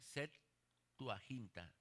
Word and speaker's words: Septuaginta: La Septuaginta se escribe como séptimo, pero se le pone Septuaginta. Septuaginta.